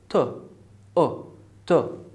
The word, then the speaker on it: tuberculosis: So this is unstressed syllable, so it's tu, tu. Very good. Number two, I have bur. I have sound. as in bird, as in girl.